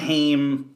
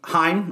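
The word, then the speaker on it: Haim: um paul thomas anderson a lot of hame heim excuse me i kept pronouncing it incorrectly um no shock there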